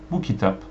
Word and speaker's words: Bu kitap: Okay, the stress on the words is different. So for example, if you want to say this book, you say it like this: Bu kitap. This book. Bu kitap. If you say bu kitap, bu kitap, which means this is book.